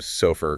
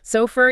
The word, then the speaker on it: SOFR: Just to confirm we pronounced that first acronym, SOFUR. Correct. SOFUR. Yes.